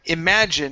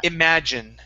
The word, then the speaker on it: imagine: the word imagine now in English we have a lot of words that end with e typically the E is not pronounced okay so we have very few words where the e at the end of a word is pronounced so instead of imagin it's imagine imagine just like that okay all right